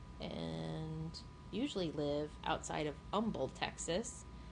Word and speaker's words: Humble: usually live outside of Umble Texas don't pronounce the h it's not it's not humble and neither are we